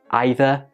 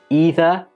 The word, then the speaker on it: either: a long e like either and neither or do you pronounce them with an I like either and neither let me know